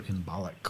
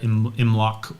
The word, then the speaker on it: Imbolc: We do not call it Oilmelg or Imbolc or any of the other Imloc, however you want to pronounce it.